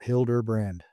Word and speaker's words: Hilderbrand: Uh my name is Hilderbrand and uh that would be the way to pronounce it. Hilderbrand.